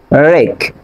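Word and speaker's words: wreck: For example খেয়াল করেন এখানে রিং, র্যাপ, রেক। বাট কিন্তু আপনি কি করবেন, ডব্লিউ এর উচ্চারণ সাইলেন্ট রাখবেন। ডব্লিউ এর উচ্চারণ হবে না, বাট আর এর উচ্চারণ হবে।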